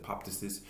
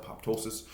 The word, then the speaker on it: apoptosis: What it is apoptosis, and I speak about this before, whether you pronounce it apoptosis, whether you pronounce it apoptosis.